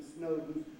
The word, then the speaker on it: Snowdon: You don't reduce that final syllable in Snowdon and you call him Lord Snowdon.